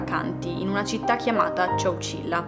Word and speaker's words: Chowchilla: letto che in realtà il nome Cecilia deriva in realtà dal nome di una tribù indiana che si trovava lì un sacco di anni fa ovviamente che si chiamava Ciao Sheila quindi non sono sicurissima della pronuncia per una questione di etimologia di origine del termine nei vari servizi che ho visto io nei vari video la chiamano Ciao Cila quindi lo pronuncerò così potrebbe essere sbagliata come